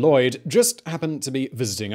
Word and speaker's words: Lhwyd: Past Regained In 1699, the Welsh antiquary Edward Lhwyd (pronounced “Lloyd”) just happened to be visiting Ireland.